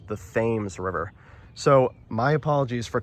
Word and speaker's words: Thames: American Woolen Company building, I called this the Tames River. you know, pronouncing it the way they do in London, the Tames River in London. Apparently, a lot of locals actually told me it's pronounced the Thames River.